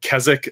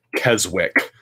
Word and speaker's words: Keswick: It's Keswick. It's not spelled how it sounds. It's spelled, you would think it's pronounced Keswick.